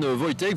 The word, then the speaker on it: Wojtek: Et là on se retrouve avec Stéphane ou Stepan Wojtek, vous le prononcerez à la tchèque ou à la française, c'est comme vous voulez.